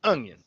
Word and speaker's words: onion: Okay, yeah, you're putting a G in there. That's interesting. That's interesting. Let me write that down. Ungyun. Onion. G in the word onion.